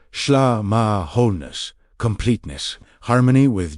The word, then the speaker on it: shlama: The word shlama, pronounced shlama, wholeness, completeness, harmony with G O D reaches far beyond our modern idea of peace.